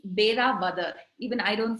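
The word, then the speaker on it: Velavadar: And the Black Buck Lodge is on the outskirts of a national wildlife sanctuary, the Deladar National Park. Did I pronounce that? It's Bera Badar.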